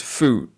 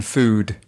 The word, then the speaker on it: food: If you listen to Elisha, she says food rather than food. Can you hear the d at the end of food?